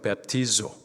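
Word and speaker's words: βαπτίζω: 세례, 헬라식 발음으로 베프티조, 뜻은 물속에 잠그다.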